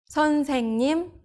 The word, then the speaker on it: 선생님: 선생님, teacher. It becomes an NG sound.